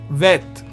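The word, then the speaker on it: ב: You see this bet is pronounced as vet, v sound, okay, and the remaining are the same. Now, but once we put in the dot, let's look at what happens when you put in the dot. The bet is pronounced as b, boy sound, b sound. Whereas without the dot, it is pronounced v sound.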